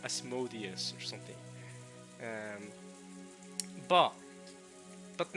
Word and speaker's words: Asmodeus: guys thank you okay guys asmodius not as modius as madias see before you guys wait what uh wrong apparently this is wrong okay apparently is the wrong way to pronounce it alright let's check